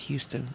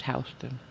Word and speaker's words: Houston: not pronounced Houston. It's Houston.